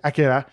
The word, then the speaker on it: Akira: man okay yeah sometimes when i say akira which is the actual pronunciation people yelling um but